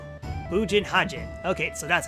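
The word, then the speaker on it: Bugenhagen: Bunjin Hajin. Bujin Hajin. Okay, so that's how you pronounce it.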